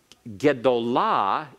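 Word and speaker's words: גְּדוֹלָה: to a great woman, takes the accent all the way to the end.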